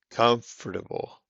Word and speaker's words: comfortable: okay it's spelled comfortable comfortable er er comfortable so it sounds like an ER instead of an or comfortable again a word